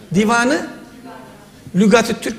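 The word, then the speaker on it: Dîvânu Lugâti't-Türk: Neyi sordum hocam kaç kahramanım kitabın adı ne Divanı Lügatit Türk güzel bir telaffuz lügati't-türk dedi anlamı ne Bu nedir Divanı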